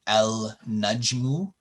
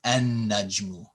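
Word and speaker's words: النجم: Okay, so here when we see this in writing el najmu, you wouldn't pronounce the L. It becomes an najmu.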